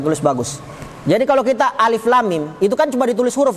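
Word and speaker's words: الم: kenapa bisa jadi panjang Karena ejaannya lam setelah lam ada mim Lam Mim maka lamnya lam ketemu dengan mim setelah lam itu makanya lamnya jadi Pak panjang walaupun tidak ada musik itu dalam tulisan tapi dalam ejaan bacaannya ejaan semua bukan mengikuti apa tulisannya Kalau tulisannya tidak ada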